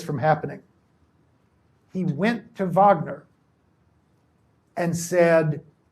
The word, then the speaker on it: Wagner: He managed to sign a Europewide famous soprano by the name of Johanna Vagner, spelled Wagner but pronounced Vagner.